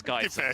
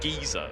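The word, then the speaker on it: geyser: we pronouncing this now it's guys it's guys I don't know why Derek insists on calling it geezer like that's just not that was just a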